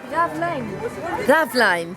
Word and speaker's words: Raveleijn: Raveleijn.